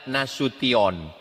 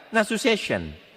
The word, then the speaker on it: Nasution: Cara membacanya nasution. Ada pula pembawa acara yang baca nasu session nasin.